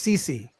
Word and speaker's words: Cece: Oh, did I mispronounce her name? It's Cece. Usually, yeah, Cece.